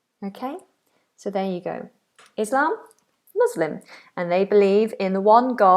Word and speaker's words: Islam: So it's a nice open vowel sound. Islam. Islam.